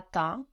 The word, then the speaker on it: temps: Ta, and then the P and the S, we also just forget about them. Can you order on time? Can you command on time? Peux-tu commander à temps?